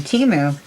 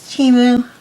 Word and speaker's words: Temu: Got it from Temu. Apparently that's how it's pronounced. I saw it on the Super Bowl commercial. That's the way they pronounced it, was Temu instead of Temu.